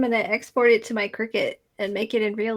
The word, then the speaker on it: Cricut: Cricut.